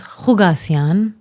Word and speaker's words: Kukassian: It's my name, Kukassian. Cool last name. Thank you. What does it mean? Um, it doesn't mean anything that I know of. It's actually pronounced Hugasian.